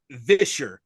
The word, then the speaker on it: Visher: So you would call it Visher with a V. With a V. Because, like, yes. So, like Fisher, but then put the V on it, which I'm going to go ahead and say this right now.